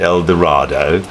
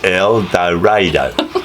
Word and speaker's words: El Dorado: all these signs saying don't pronounce it El Dorado or El D it's El dadoo like tornado tornado that's right and then